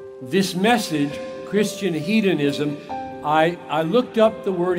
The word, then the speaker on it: hedonism: said this morning Christian hedonism Christian hedonism some people pronounce it ed anism now I know that